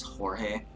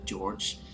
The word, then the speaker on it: George: One rudely wakes up George 052, pronouncing his name as Jorge. George tries to tell an instructor that his name is pronounced as George, but the instructor hits him with a humbler stun device for backtalking.